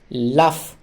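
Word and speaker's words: laugh: জি এইচ এ ফ লাফ লাফ মানে হলো হাসি এক্ষেত্রে জি এইচ এর উচ্চারণ হলো ফ এর মত ইংরেজিতে এই যে ও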